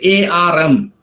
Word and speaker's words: arm: uh the word like a rm arm the r is silent but in a word